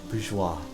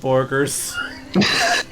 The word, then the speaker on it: bourgeois: Bourgeois. Thank you. Bourgeois. I was about to pronounce it bourgers.